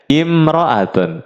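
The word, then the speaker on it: امرأة: pakai alif lam almaratu kalau tanpa alif lam dibacanya imroatun imroatun seorang wanita nah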